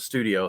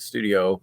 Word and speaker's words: Studio: and do studio bricklink studio stu stud io however you pronounce it you know it it's gotta be studio i know people call it stud i o but um right yeah